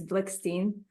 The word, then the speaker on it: Blikshteyn: or it's I'll send you the trouble of pronouncing my last name it's blickstein blickstein she's a